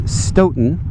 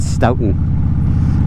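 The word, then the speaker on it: Stoughton: pause the video to pronounce that town it is Stoten oh my college roommate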